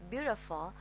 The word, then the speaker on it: beautiful: American accent, we need to move the t to d. Okay, because t here is between two vowels u and e. You know, also we can move it to d. Okay, and the last syllable is not u. Okay, it's a.